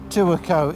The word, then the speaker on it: Tuakau: We're going to stop a night in Tuakau, or Tuakau, as the Tuakau is the correct way to say it.